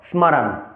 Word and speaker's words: স্মরণ: বাংলা উচ্চারণের ক্ষেত্রে এই শব্দক গঠনম কে আমরা উচ্চারণ করব স্মরণ যদি আমরা সংস্কৃতের ক্ষেত্রে উচ্চারণ করতে যাই তাহলে তবে আমরা উচ্চারণ করব স্মারণ স্মারণ অর্থাৎ স্বতন্ত্র উচ্চারণ করছি স্মরণ এবার আসছে